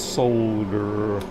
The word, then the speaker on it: solder: that that's uncalled for the correct pronunciation is solder anything else is an offense in the Bible horse